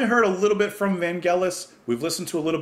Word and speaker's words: Vangelis: could make sure that I was pronouncing his name correctly. Vangelis. Not Vangelis. That's what I was saying before.